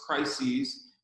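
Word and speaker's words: κρίσις: So when defining a crisis is, and in the Greek, it's pronounced crises.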